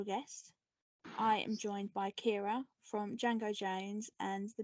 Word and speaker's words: Ciara: by another special guest I am joined by Kira from Django Jane's and the Mystery Men hello hey I'm very impressed you pronounce my name right your um your